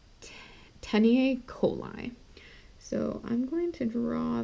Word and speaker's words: taeniae coli: And that's called It's hard to pronounce, but it's teniae coli.